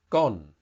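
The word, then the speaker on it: ก้น: we'll deal with later so the word is gone and that means your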